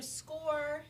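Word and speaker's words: SCOIR: good question so there's so score and it's spelled s-c-o-i-r which is a little confusing that is a platform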